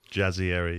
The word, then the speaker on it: Jazayeri: Jazzieri.